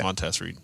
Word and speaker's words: Montessori: No, it's Montessori.